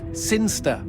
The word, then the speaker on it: Sinister: Sin Chester. Sinster. What? It's pronounced Sinster.